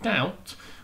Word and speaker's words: doubt: of these spellings so with doubt we can't hear um the b okay so b is a silent letter we'll look at our